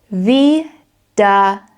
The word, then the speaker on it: Wiedersehen: And then we got wie, da, sehen, sehen, Wiedersehen.